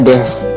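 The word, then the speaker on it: です: namaewa nama kita desyah dibacanya Des tulisannya desu ya itu artinya nama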